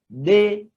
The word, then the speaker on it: des: So we are told, il y a des auxiliaires. Il y a, it means there are. Des, this one, deux, it is pronounced de.